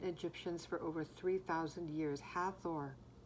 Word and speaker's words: Hathor: Beloved to ancient Egyptians for over 3,000 years, Hathor, or pronounced Hatha, T-H-A-W, interesting.